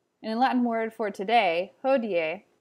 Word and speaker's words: hodie: latin word for today hodier you should pronounce both the i and the e and the end sort of like ho d a hodier the i makes a